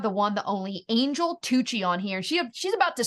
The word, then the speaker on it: Tuccy: I am Angel Tuccy all the time, but it's actually Tuccy, rhymes with fussy.